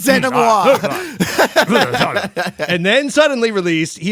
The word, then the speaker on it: denouement: Last week, if you recall, I totally boned the denouement pronunciation. I think I say, denouement. I was going to say, dude, I hate to tell you that you did it because it's denouement.